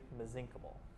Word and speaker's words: mesenchymal: The most common therapeutic type of stem cell is called the mesenchymal stem cell. or if you want to say it quickly, mesenchymal. Either pronunciation is acceptable.